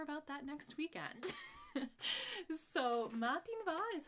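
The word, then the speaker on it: madainn mhath: So matin va is how you say good morning, and then perhaps then you could ask someone Kimura how.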